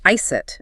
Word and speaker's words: iced: Pay very close attention to the pronunciation of iced in natural speech. It often ends with a clear T sound, so it sounds more like ice it rather than a soft iced.